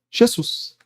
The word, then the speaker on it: Jesus: no aramaico, mas na língua grega, onde se pronuncia Jesus.